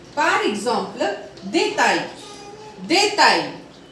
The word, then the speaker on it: détail: Now, the point number 22 says that if A-I-L come together, the sounding will be I. If A-I-L comes together, the sounding will be I. For example, détail, détail, travail, travail.